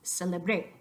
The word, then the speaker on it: celebré: Then, if you're talking about the preterite yo form of the verb celebrar, your voice accent, your emphasis is going to go on the last syllable.